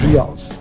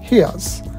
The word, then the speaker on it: reais: The currency in Brazil is reals, but local people pronounce it as reais.